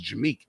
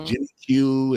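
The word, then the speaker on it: Jimiq: pronounce my real name my real name is jamik i was jim q and i was jimmy jim acquire but uh j-i-m-i-q like girl that's when i met him he was jimmy right girls not pronounced my name when i was dating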